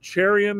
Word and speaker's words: Cherian: This Saturday is another episode with Greg Prince and Ganesh Cherian. Am I pronouncing that correctly? That's correct. Cherian.